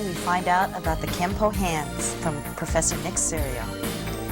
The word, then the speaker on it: Kenpo: When they got through changing the characters to the Okinawan calligraphy, it read Kenpo.